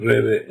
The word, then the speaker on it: Rebbe: Nosotros decimos Rebe en Yiddish, pero se escribe Reish Bet Yud, Rabbi.